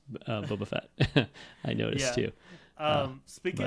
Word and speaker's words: Boba Fett: Cartoon any day or the Bubba Fett cartoon as Bruce fanch pronounces Boba Fett I noticed too um